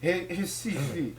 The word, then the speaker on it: Recife: And the first synagogue in the Americas was built in the capital, Recife. I don't get it. There's an R, but why is it pronounced like an H?